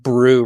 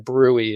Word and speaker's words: BRUE: But I think the the main reason why the committee decided with brew rather than brewy is we already brewy